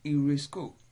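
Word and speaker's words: εὑρίσκω: Eurisko begins with epsilon, upsilon. Epsilon, upsilon are not separate vowels, but they are to be pronounced together. And so they are regarded as an example of diphthong.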